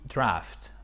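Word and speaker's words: draught: En British English, on a A-U-G-H-T, ok? Mais ça se prononce aussi draft.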